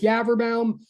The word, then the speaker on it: Yaverbaum: And if you're trying to say it right, it sort of rhymes with cadaver town, sort of, not really, but it's Yaverbaum.